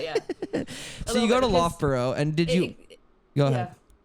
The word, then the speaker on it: Loughborough: Loughborough.